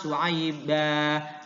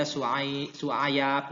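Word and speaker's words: شُعَيْبًا: Kemudian surat Al-A'raf ayat 85 su'aiba, jadi ya su'aib, tidak boleh dibaca su'ayab, nggak boleh. Terus dibikin nakal gitu, dipindahin hurufnya, nggak boleh, ya. Sama, tetap harus bacanya tetap su'aiba.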